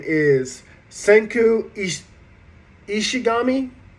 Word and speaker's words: Ishigami: name is senku is ishigami I believe that's how you say it like Shinigami or ishigami and so then the next